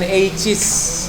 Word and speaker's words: aches: Bacanya jangan aches. Aches. Keh ya.